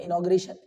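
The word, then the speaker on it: inauguration: इनो okay रेशन okay वैसे इसको पढ़ते हैं इनॉगरेशन पर स्पेलिंग इस तरह से लिखी जाती है ओके जहन होता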